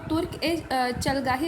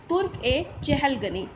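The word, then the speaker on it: तुर्कान-ए-चहलगानी: इक्ता system जो कि भूमिदान से रिलेटेड थी, और ये जो तुर्क ए चलगाही लिखा हुआ है लेकिन इसका जो सही प्रोनाउंसिएशन वो है तुर्क ए चहलगनी, हिंदी में कहते हैं तुर्क ए चहलगनी।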